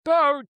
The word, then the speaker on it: Boot: Boat in German is just pronounced boat.